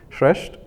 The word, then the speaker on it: Shreshth: that in my name I pronounce it shreshed and I have the